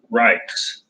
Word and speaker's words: Reich's: These came from Reich's. It's spelled R-E-I-C-H out of Pennsylvania.